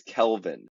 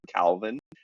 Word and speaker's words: Kelvin: where he was saying my name is Kelvin not cvin and my mom told me when I was a young boy if anybody mispronounces your name and calls you Calvin that you correct them